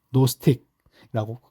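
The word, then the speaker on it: gnostic: 이제 그노시스 주의라고 합니다요 쥐자가 어 약간 이게 묵음이다 원래 노스틱이라고 부르던가 혹은 노스틱 그렇게 부릅니다 즘 혹은 영지의 주은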